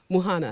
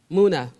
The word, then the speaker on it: Muna: Akri, I said that too, Muhana. Is that right? Almost. Say it right. Tell me to say it right. Muna.